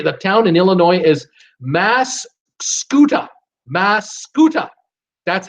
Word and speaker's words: Mascoutah: Sherry, the town in Illinois is Mascoutah. Mascoutah. That's how it's set. How you pronounce it?